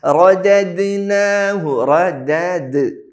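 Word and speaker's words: رددناه: സുമ്മ പിന്നെയോ റദദ്നാഹു റദദ്നാഹു റോ വായ നിറഞ്ഞ ശബ്ദത്തെ പറയണം. പിന്നെ റദദ്നാഹു റദദ് ദാലിന് സുക്കൂൻ വരുമ്പോൾ അത് കൂടുതൽ വ്യക്തമാക്കി ശ്രദ്ധയോടെ പറയണം.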